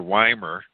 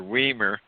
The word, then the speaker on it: Wiemer: he pronounces it incorrectly my real name is pronounced Wymer even though it's called wiemer my dad always told me as I was growing up I could never pronounce I never pronounced our last name correctly and so it was an in it was an in family joke that introduced me tonight Steve as wiemer vowel in red then